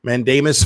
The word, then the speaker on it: mandamus: just learned that that's how you say it mandamus filed recently by Michael long in the custody